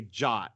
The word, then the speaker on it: JWT: stands for right but we often say jot even though there's no o the o is the